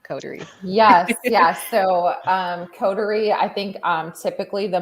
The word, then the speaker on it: Coterie: may be like you're the the most unique pronunciation that you've heard of codery yes yes so um codery i think um typically the most miscommonly said um coterie is cautery we hear that a lot and it's funny